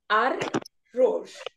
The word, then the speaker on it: arroz: So the third letter that has the last syllable stressed when the ending is in Z. Okay. Here it is. Also, I've given you words with two syllables only, because most of the words that I could find were in two syllables. So this arroz. Arroz. Arroz is right. Now again, please get used to the rolling of the R.